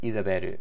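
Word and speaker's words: イザベル: the names you know isabelle is not just like izaberu which would be like how you say isabel in japanese it's a different name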